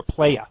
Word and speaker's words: playa: Not player, playa. Playa. Yeah. No R.